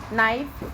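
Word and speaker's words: knife: दाने निकाल सकते हैं नाइफ चाकू जो कि आप जानते ही हैं इसमें के साइलेंट रहता है ये है सरेड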